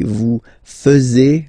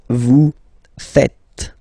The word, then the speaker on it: faites: And it's quite funny because many French people tend to make the mistake and tend to say vous faisiez, okay? But then no. It's vous faites. Vous faites. Okay? So remember, final S here is not pronounced, and then this is not pronounced either. So faites, faites.